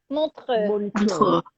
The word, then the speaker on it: Montreux: Am I pronouncing that right? Is it Montreux? Montreux.